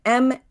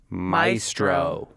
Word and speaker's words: maestro: here's one the word m-a-e-s-t-r-o Maestro yes Maestro it's the only common English AE word that only ever gets pronounced with that long I sound that diphthong for now yeah for